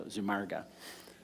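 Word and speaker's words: Zumárraga: talking to people and he gave me the proper pronunciation of that so zumarga um but um anyhow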